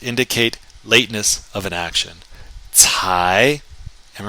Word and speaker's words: 才: 才, 才, not until, only then. And it's an adverb to indicate lateness of an action. 才, and remember that C sounds like a TS.